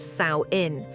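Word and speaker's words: Samhain: And the most significant marker in their calendar was samuin, pronounced saoin, observed around October 31st.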